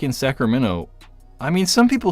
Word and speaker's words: Sacramento: They like don't pronounce the T in the end, but we're like, I'm from Sacramento.